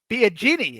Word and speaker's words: Biagini: Biagini. It's like Biagini. They're big. You gotta pretend like you're in an Italian restaurant. Biagini.